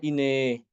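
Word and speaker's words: إناه: Yang pertama ya, Imam Hisham mengimalahkan alif pada kata inah. Inah di surat Al-Ahzab ya. Jadi dibacanya ine. Inah dibacanya ine.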